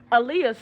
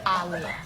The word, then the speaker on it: Aaliyah: Like Muhammad Ali.